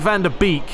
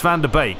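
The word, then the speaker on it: Van de Beek: Now, I know it looks like Van der Beek, but I believe it's Van der Beek. That's how you pronounce his name.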